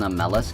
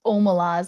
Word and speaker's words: Omelas: If you think about it, Hollow Knight is an Amelis kid. True. Oh, I forgot that it's pronounced Omelas.